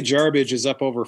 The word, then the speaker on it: Jarbidge: heard Zach call it Yarbridge. Yes. Did I put the R in there? Oh, my bad. I've heard about 6 different pronunciations of Jarbidge. There's no bridge. It's not garbage. Yeah. It's Jarbidge. Jarbidge.